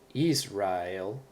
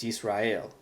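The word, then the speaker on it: ישראל: And Yisrael, not Israel or Yisrael, it's Yisrael. The accent is on the last syllable, excuse me.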